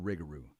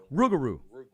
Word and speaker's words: Rougarou: of the world Mr rigaroo oh you gotta say it right baby oh rigaroo you always say Wrigley you always say Rick rugaroo well thanks for correcting me Rougarou okay I'll make my